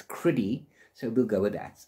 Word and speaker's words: Crydee: So I would have pronounced Crydee, C-R-Y-D-E-E, as Crydee. He pronounces it as Criddy.